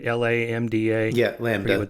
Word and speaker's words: LaMDA: How do you pronounce that? LaMDA, right? LaMDA.